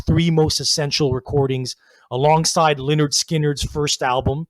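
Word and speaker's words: Lynyrd Skynyrd: of southern rock's three most essential recordings alongside leonard skinner's first album pronounced leonard skynyrd and the allman brothers live at the fillmore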